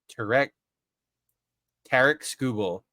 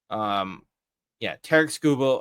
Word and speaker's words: Tarek Skubal: I also learned how to pronounce his name. It's Tarek Skubal. Tarek, yeah, Tarek Skubal of the Detroit Tigers.